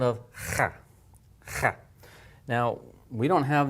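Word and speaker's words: خاء: Notice what I'm doing is I'm grating with my tongue at the top. Okay, now it works basically the same as the ha. I do the same thing with my mouth, except I'm gonna, this time, use my tongue at the top of the roof of my mouth to make that rattling sound.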